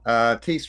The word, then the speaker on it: Tiest: Tiest rhymes with beast.